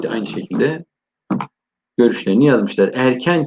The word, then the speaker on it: erken: Erken kelimesi de irken diye yazılır. Erken diye okunur.